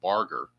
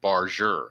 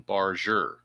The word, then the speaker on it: Barger: I was called him Barger, but when I listened to the game last night, it's pronounced they're pronouncing it Barure. It's a soft G. So, it's Addison Barure.